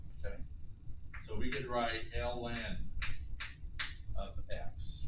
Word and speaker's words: ln: its own special notation okay so this is pronounced ln of x so we replace log base c with ln